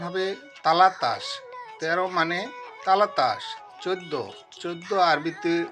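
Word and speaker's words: ثلاثة: 3, আরবিতে উচ্চারণ হবে তালাতা।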